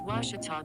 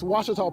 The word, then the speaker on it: Ouachita: How would you pronounce it? Ouachita. Ouachita. It's Ouachita Baptist University. Get it right. It's Ouachita, people.